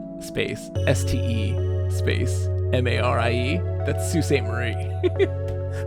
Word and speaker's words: Sault Ste. Marie: That's Sault Ste. Marie. Salt Stay Mary.